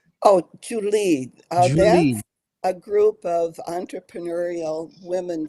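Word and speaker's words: Joole: J o o l e how is that pronounced oh Julie a group of entrepreneurial women from India that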